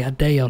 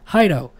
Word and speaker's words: Hideo: was pronounced and he goes do you mean hideo hide oh okay yeah that's right hideo I was like it's hideo okay so I gotta make myself say hideo now because he actually did live in Japan